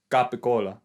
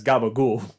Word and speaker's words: capicola: americans pronounce it wrong it's capicola italian italian americans pronounce it as gabagool gabagol yeah you've never heard of that before